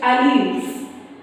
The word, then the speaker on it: alleles: Next, alleles. See the spelling A-L-L-E-L-E-S. It is pronounced as alleles.